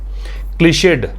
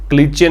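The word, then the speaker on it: cliché: क्लीशेड, क्या pronunciation है? क्लीशे, क्लीचे नहीं पढ़ना है, क्लीशे।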